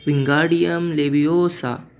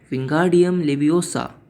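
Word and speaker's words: Wingardium Leviosa: तभी रॉन उसे प्रोनाउंस करता है विंगार्डियम लेवियोसा। हरमाइनी उसे रोकती है और उसे कहती है कि इसे ऐसे नहीं, इसे कहती है विंगार्डियम लेवियोसा, ना कि ओसा।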